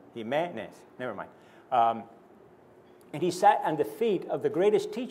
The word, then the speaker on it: Jimenez: I'm sure they can't pronounce Jimenez either. Accent on the first E, by the way. Jimenez.